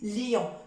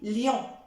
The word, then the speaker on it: lion: ion comme lion lion surtout n'insistez pas trop appuyez pas trop sur le i n'hésite pas lion non c'est faux parce qu'il y a des personnes qui prononcent mal et qui disent liant non j'essaie d'appuyer un petit peu légèrement sur le I et je dis lion lion d'accord lion alors